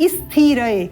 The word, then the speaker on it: स्थिर: हमें स्पष्ट लेना है इसको हम कई बार स्थिर इस प्रकार बोल देते हैं य इ स्थि ऐसा नहीं है यह स्थि नहीं है यह अनुपयुक्त है क्या है स्थि स्थ पहले आप उच्चारण करेंगे स्थ और उसके बाद उसमें इ का स्वर संयोजित करते हुए बोलेंगे स्थि स्थि उत्तम स्थिर स्थिर